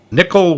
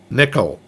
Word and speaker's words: Nicol: I thought it was Nicole, but... I looked it up, and it is pronounced Nickel. Huh. I think it's the Welsh thing.